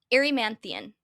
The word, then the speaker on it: Erymanthian: The fourth labor is for Heracles to bring the I cannot pronounce this, Erymanthian? Erymanthian. Okay.